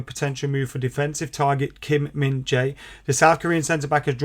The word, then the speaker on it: Kim Min-jae: comments and you guys telling me how to pronounce his name properly um as I was calling him Kim Min Jai before but it is Kim Min Jae and the article says Manchester United Target Kim